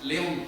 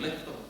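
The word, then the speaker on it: Лев: Aquí en España decimos León Tolstoy, pero es Tolstoy, Lev Tolstoy.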